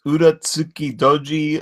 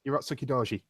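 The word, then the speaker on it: Urotsuki Dōji: Yeah, I gotta say up front, the new I think it was Uratsuki Doji, Legend of the Overfiend. It's looking pretty good. Like I said, Yeah, Urotsuki Doji.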